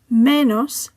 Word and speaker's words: menos: Menos ends with an S, therefore the stress falls on the penultimate syllable.